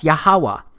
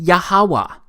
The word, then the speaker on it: Yahuwah: simple back then that it vocalized each consonant with an AA sound without specifically marking that sound between consonants so this yhw H it's pronounced yahuwah it also turns out